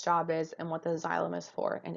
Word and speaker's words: xylem: Two funny words, but that really is how they're pronounced, xylem and phloem.